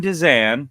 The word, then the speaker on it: Dezan: fun to kind of catch up is danan Did I Say It Right Bingo perfect I